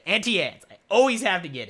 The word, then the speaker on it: Auntie Anne's: Every time I go to the mall, I have to get me some Aunt Annie's. Or Auntie Anne's. I always say it wrong, but Auntie Anne's.